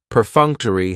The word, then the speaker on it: perfunctory: Perfunctory has 4 syllables, and the stress is on that second syllable, that funk. Perfunctory. That third syllable has the schwa, and it's going to end with that long E sound.